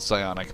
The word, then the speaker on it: psionic: I misspelled psionic, my bad. No. The P is silent.